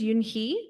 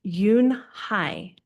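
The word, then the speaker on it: Unhei: Your name is Yunhi? He asked her with his eyes open wide. Yunhai looked quickly at Mr. Kim and then turned to Joey. She nodded slowly and said yes, but it's pronounced Yunhai.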